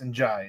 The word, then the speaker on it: Ndiaye: It is Mamadou Ndiaye, or Njai, I guess. Njai is how you pronounce it.